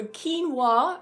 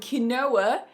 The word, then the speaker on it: quinoa: If you also got the 2 pronunciations for quinoa and quinoa, then yes, you can add that as another point.